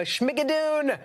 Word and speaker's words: Schmigadoon: Al said it sounds like Al says it sounds like Lorna-doon.